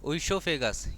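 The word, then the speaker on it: oesophagus: ओसोफेगस। यह जो ओ है साइलेंट है।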